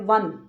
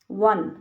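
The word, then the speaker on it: one: example ले लेते हैं वन वन व ओ से स्टार्ट हो रही है स्पेलिंग तो ओ एन ही लेकिन प्रोनंसिएशन में क्या आ रहा है वन व व क्या है व्यंजन है तो सीधा ए लगा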